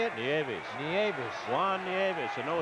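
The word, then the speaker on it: Nieves: hitter no neav how do you say it niavis niavis Juan niavis a no hitter neis holy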